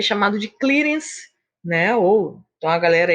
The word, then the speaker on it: clearance: Mas para se falar de uma forma mais correta, a pronúncia mais correta seria clearance, que pode ser chamado também de depuração.